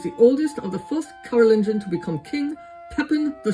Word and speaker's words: Carolingian: Is that how you pronounce it? Carolingian?